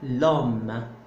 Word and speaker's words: l'homme: Et homme commence par un H muet. Et puisque c'est un H muet, donc là je peux appliquer, et je dois en fait, je dois faire élision. J'enlève le E et je mets à la place l'apostrophe et ça devient l'homme.